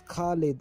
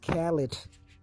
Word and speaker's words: Khalid: Yes, it's Khalid. It's not Khalid. Y'all ruin a lot of names for real.